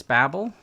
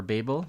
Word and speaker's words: Babel: install we're gonna use babble or Babel depending on you I you guys like to depending on how you pronounce it so we're gonna install